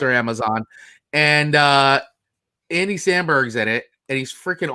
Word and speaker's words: Andy Samberg: actors are good, and I'm a fan of Andy Sanborn, Jesus. Wait, did I say it right? No. Andy Samberg. Andy Samberg. Jesus. Andy Samberg. Samberg.